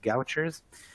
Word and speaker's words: Gaucher: gene are the link between gaucher disease some pronounced gouchers and parkinson's where to